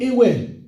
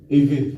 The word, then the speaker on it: Ewe: Akpene, comment on prononce? Eve, sorry. V, ah oui, c'est vrai. V.